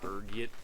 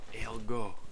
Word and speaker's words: ergot: There's a few different ways you can pronounce it depending on your social standing, ranging from ergit to elgo. Being the disheveled pauper I am, I prefer ergot.